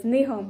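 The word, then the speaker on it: 日本: I even put the pronunciation in Japanese. It says Nihon.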